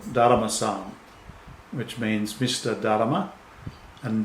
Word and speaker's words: Daruma: in japan is called daruma-san which means mr darma and dalama is literally a japanese pronunciation of dharma which comes from bodhidharma